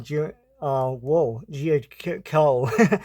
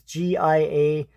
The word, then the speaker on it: Giacoia: This cover art is by Rich Buckler and Frank Giacomo. I don't know how to pronounce that. It's Giacoia.